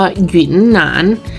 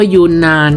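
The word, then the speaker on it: 云南: กัน บ้าง นะ คะ จริง ๆ แล้ว คำ เ มัน ต้อง อ่าน ว่า หยน หนาน นะ คะ แต่ ว่า คน ไทย หลาย ๆ คน เนี่ย ก็ เรียก ว่า ยูนาน เมื่อ ก่อน เรา ก็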